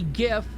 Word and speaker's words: GIF: for graphics interchange format it's a g it's a hard G says I don't give a what his creator says there's no there's no reason for it like like it literally okay seriously why is this truck oh oh I had to turn Arrow come on I had the wrong thing all right good it it's it it's like so obvious that it should be gift but everybody just you